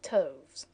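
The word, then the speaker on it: toves: that has often been asked me how to pronounce slippy toes the ey in slippy is long as in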